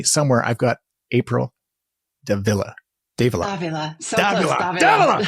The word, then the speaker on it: Dávila: Dávila. So Dávila. close, Dávila. Oh, I was going to write it down phonetically too.